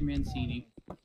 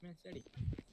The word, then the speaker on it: Mancetti: Mancini. Jesus. You keep mispronouncing my name. It's Mancetti.